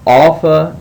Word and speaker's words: Alpha: go with that um Alpha needs to be pronounced as the the A and father so like you would say father you see Alpha now Alpha can have